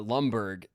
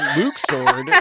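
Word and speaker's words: Luxord: in chat goes he thinks his name is Lumbberg, it's Luke Sword, you know, and then like has something not knowing the reference that I'm making.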